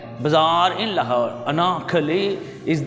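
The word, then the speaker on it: Anarkali: यस, अनारकली, अंग्रेज को आर को अमेरिकन जो हैं वो प्रोनाउंस करते हैं, ब्रिटिश तकरीबन स्किप कर जाते हैं। अनारकली, वो ऐसे लगता है जैसे ऐनक वाली कह रहे हैं, अनारकली। अमेरिकन इसको अनारकली पढ़ेंगे, ठीक है।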